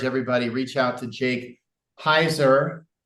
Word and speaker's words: Heuser: I would encourage everybody reach out to Jake Heiser rhymes with anheiser last name spelled hu e ER